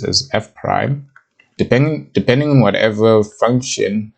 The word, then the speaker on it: f prime: So the notation of a derivative would be this, which is pronounced as f prime.